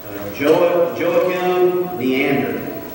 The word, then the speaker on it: Joachim Neander: Joachim Neander, I believe is how you would say his name.